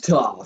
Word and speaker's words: Toph: My name's Toph because it rhymes with tough.